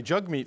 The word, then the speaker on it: Jagmeet: parties um Tim this Jag me Singh guy sounds like a bad guy jug meat Singh is a leader of the NDP because that's how it's pronounced uh what did you